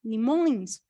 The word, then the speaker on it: limões: Limões, claro. Limões. E como é a pronúncia? Essa pronúncia é ons, ons, ons, como se a gente estivesse numa festa. Ons.